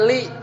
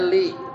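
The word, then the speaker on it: لِ: Lamul amr itu bacanya li. Bacanya li.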